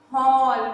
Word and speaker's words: hall: Tina was playing in the hall. Where she was playing? In a hall. जो घर में हॉल होता है ना? Not hole. Hall. Pronounce it properly.